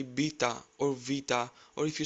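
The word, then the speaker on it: βήτα: Next is vita. You must have heard it like beta or beta. Replace the letter B with V and try to say vita.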